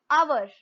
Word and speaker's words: hour: चाहिए, लेकिन नहीं, क्योंकि अगर जब आप इसको स्पेल करते हो, प्रोनाउंस करते हो, तो आप क्या बोलते हो, आवर, है ना, आर बोलते हो या अवर बोलते हो, तो यहाँ पर आपका जो एच है वो क्या है, साइलेंट है, उसका कोई फंक्शन ही